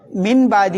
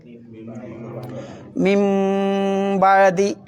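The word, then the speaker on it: مِن بَعْدِ: അതിന് ഉച്ചാരണം ഇല്ല പിന്നെ മിൻ ബാദി എന്നോ മിൻ ബാദി എന്നോ ഓതണ്ടേ മിംബദി അതിനെന്താ പേര് പറയാ എന്താ പേര് പറയാ ആ സാക്കിനായ നൂനിന്റെ ശേഷം ബന്നാൽ എന്താക്കണം ആ നൂനിനെ മീം ആക്കി അതുകൊണ്ട് ഒരു കുട്ടി മീം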